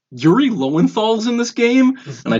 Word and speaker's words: Lowenthal: How do you pronounce his last name? No, Yuri Lowenthal.